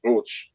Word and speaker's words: Roots: We pronounce it Roots, not Roots, but it's a very common name.